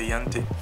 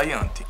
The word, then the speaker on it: Ianthe: E ela, eu acredito que é assim que se pronuncia, Ianthe.